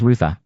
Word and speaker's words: rather: rather was altered by the southern Appalachian pronunciation of rather as ruther, and then rebroken as I'd druther.